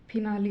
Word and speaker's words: finale: इसी प्रकार FINALE, फिनाली, यहाँ पर भी लास्ट में ई आ गया है तो इस ई का उच्चारण हम ई के रूप में ही करेंगे, तो इसको हम क्या पढ़ेंगे, फिनाली।